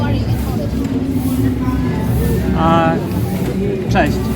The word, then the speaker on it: Cześć: Cześć. Am I pronouncing it right?